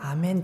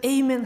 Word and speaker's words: 아멘: 아멘 이라고 기록되어 있어요 헬라어 에도 아메노 되있어요 우리가 아멘 으로 말한 거 똑같은 발음 이에요 아멘 이라고 그대로 가져온 거에요 그것을 에이멘 하면 정말 너무너무 직항 거야 전혀 성경적이지 도 않고